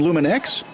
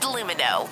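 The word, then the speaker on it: Lumineux: You mean Luminex? It's pronounced Lumino. It's French.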